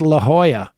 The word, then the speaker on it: La Jolla: yeah indeed uh Ryan and Callie Matt it's pronounced La Jolla not La Joy Jola I've never seen it